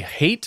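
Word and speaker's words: Hait: some reporting done by Ari hate I think is how you say it h-a-i-t who's writing for WPBF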